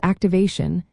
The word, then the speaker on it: activation: For example, activate becomes activation and the T turns into a sh sound because of this pattern.